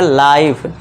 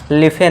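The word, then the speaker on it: life: लाइफ। लिफे नहीं लाइफ। इस तरह ऐसे भी हम पढ़ेंगे गिव ना कि गिववे।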